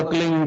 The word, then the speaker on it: क्लीं: है, किलोमीटर में फैलेगा, उसका होता है एक शब्द क्लींग शब्द, क्या आधा ला में मिला हुआ, बड़ी की मात्रा और बिंदी, उसका उच्चारण होगा क्लींग गा। गा की ध्वनि निकलेगी पीछे।